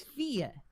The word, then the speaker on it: Fia: It's Fia. It's Swedish, Fia.